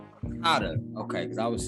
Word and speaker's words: Tadar: Tadar. Tadar.